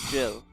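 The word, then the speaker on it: Gilles: Now, if I get the right Buster crits on Caster Gill or Caster Jill, so so I believe, I'm pretty sure his French pronunciation is Jill, Saber Jill.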